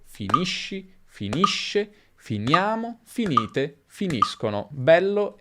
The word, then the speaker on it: finisci: Finisco come sconto, per esempio, finisci come sci, finisce come pesce.